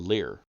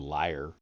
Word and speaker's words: lyre: on the string of the lyre, or lyre, depending on how you choose to pronounce that.